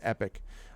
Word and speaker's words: epoch: that that it's also it can be pronounced epic but i i think epoch tupac you know we